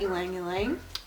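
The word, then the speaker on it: ylang-ylang: Like how I said that, ylang ylang. I got you guys. Somebody in the comments of an old video helped me figure out how to say it, so now I've had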